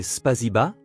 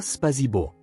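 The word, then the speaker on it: спасибо: C'est Spaziba, pas Spazibo, expliqua-t-il. Le a 1 a 1 est plus doux.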